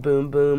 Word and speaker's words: Bum Bum: the Brazil bumbum cream it's actually pronounced boom-boom according to them but it's spelled bum bum and I've always just